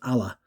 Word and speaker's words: alla: how you pronounce it the double l's allah and then the single l is ayla so it's teatro ala scala it's a theater in